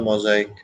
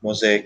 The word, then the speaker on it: mosaic: together it forms a mosaic mosa ic mosaic or mosaic also both pronunciations are correct and it is covered